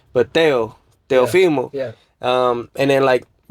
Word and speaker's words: Teofimo: So, ¿cómo se dice Teofimo?